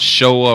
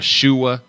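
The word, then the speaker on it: Shewa: It's called Shoa or Shua, depending on how you say it. Shoa, Shua.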